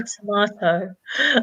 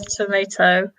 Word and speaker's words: tomato: a funny one because I say tomahto and Anika says tomato potato the same the